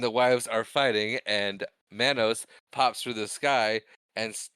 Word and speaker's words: Manos: the master and Torgo argue about the pronunciation of Manos or Manos. Yes, that part was very funny. And then he insists that it's Manos, and then all the wives start saying Manos.